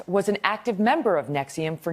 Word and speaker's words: NXIVM: So that's how you say it, NXIVM? NXIVM, and it's spelled NXIVM, which is the most pretentious way to spell NXIVM.